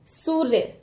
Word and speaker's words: सूर्य: अब यह बीच में यह जो रेफ की मात्रा है इसका उच्चारण र का उच्चारण बीच में किया जाता है इन दोनों व्यंजनों के बीच में सु और य के बीच में ही र का उच्चारण किया जाएगा तो क्या शब्द बन